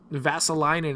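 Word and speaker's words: Vesalainen: 3-1 series lead uh vassaline actually is how he pronounced his name i just remembered how to pronounce his name so uh ves visalinan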